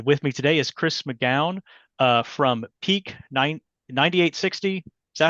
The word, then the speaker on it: McGowan: And with me today is Chris McGowan from Peak 9860.